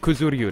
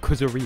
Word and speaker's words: Kuzuryu: and then once again falling foul of kuzuryu not kuzuri you once again why did